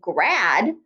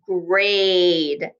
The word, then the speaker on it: grade: But look, that A is saying its name. So we need that silent E at the end to give its power to the A. So instead of saying grad, it says grade.